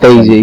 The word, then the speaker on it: DayZ: Best, that's how it's pronounced as well. Isn't it? Daisy.